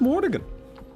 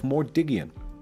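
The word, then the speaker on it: Mordiggian: extra eye in there I always thought it was Morgan there's two G's and an i at the end the way you pronounce that is omelet of mordigian I looked it up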